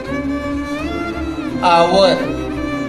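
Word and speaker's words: hour: उसी प्रकार दूसरा एग्जाम्पल हम ले सकते हैं, एन जिसमें आता है व्यंजन होने के बाद एन आवर। यहाँ यच भले है लेकिन इसका उच्चारण ओ से होता है, और यहाँ पर हिंदी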